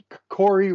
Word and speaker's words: Vedvik: Let's quickly touch on Vedvik, the Corey, as we learned how you pronounce his name, because I pronounced it Care last week.